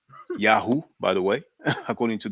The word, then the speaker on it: Yahweh: Yahweh, we know Yahweh, which might have been pronounced Yahoo, by the way, according to Dr.